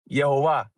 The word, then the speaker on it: Yehovah: the Latin vernacular, right, it's almost identical to the way the Cherokee pronounce it, or the way it's supposed to be pronounced, in my opinion, which is Yehovah, right?